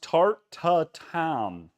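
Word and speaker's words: tarte tatin: Lucas, the dish is pronounced tartatam. Tartatam.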